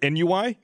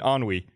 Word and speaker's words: ennui: you know Frank and our teacher was trying to teach us the concept of ennui and she pronounced it NUI oh and Frank Rees sounds like no I think you mean on we just know NUI because no it's a French word it's only because she was no it's enn UI on UI or any why we're